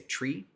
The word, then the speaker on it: tree: Another one, for instance, to call out is for 3 on the radio, we say tree.